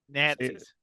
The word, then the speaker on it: Nazi: Nazis. Yeah. Thank you, James. You got to put that T in there and hit it hard.